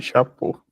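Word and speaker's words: chapeaux: De chapeau, sem pronunciar. De chapô. De chapeau, mas escreve o X, tá bem?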